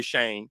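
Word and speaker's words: Chene: We say Shane.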